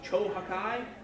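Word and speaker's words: Cho Hakkai: Chohakai is the Japanese way of pronouncing Chubajie in Japanese.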